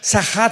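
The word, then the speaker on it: שחת: Esta palabra corromper es la palabra hebrea sachat. Sahat con s de Samuel y ch. Sahat. Sahat se pronuncia, que significa corrupción moral.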